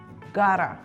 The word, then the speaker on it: got to: Well, the usual pronunciation of got to is gotta, gotta, and have is dropped sometimes in speech. So instead of I have got to do it, we say I gotta do it.